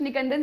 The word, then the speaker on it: निकंदन: निकेंदन, NIKANDAN, निकंदन बोलो.